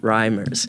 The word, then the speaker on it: Reimers: today is not exception today's guest is rhymers did I pronounce that right yes yeah because I think